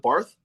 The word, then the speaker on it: Bath: You said, was it Bath? Bath, yeah. Bath, yeah, bath. Like bath? It's spelled like a bath. You know, you have a shower and then a bath. It's literally spelled like bath.